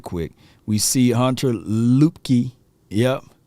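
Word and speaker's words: Luepke: quick we see Hunter lupke yep a lot of people gonna mispronounce his name right I've been hearing lipkey and loop uh just just Hunter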